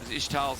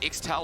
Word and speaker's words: Ixtal: Mikyx was the only one found in that case, and Ishtal's impact, or Ixtal, or whatever country, I don't know how to say it, Dagda. Ixtal? Is it Ixtal or Ishtal? Ixtal. Ixtal, thank you so much.